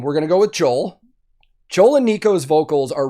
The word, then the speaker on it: Joel: ] that up because usually with scandinavian languages you pronounce the j's as y's for english speakers and i really really wanted to say yol right there but i've seen interviews where he says joel so a lot of